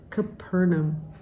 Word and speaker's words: Capernaum: Verse 12 is the city of Capernaum, so you want to put the emphasis on the second syllable, Capernaum.